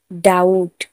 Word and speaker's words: doubt: टी से पहले बी आया इसीलिए बी का उच्चारण नहीं किया। डेट। डाउट, DOUBT, डाउट।